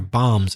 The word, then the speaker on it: balms: said bumps not bombs a BA l ms as a silent l their bombs embattlement and foams fo